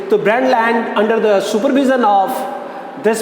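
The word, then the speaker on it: Brundtland: ru and D T here T is silent brand land you can say the brand land under the supervision of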